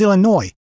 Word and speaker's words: Illinois: Yes, my name is Illinois, and I need one airline ticket to, well, Illinois. Mm-hmm. No, the S is silent.